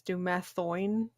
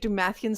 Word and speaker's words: Dumathoin: It's Dumathoin. Oh. The dwarvish god of secrets. Well, of course, yes. We would have all known it was the Dwarven God of Secrets if you pronounced it correct. I've been pronouncing it Dumathian since level 2, which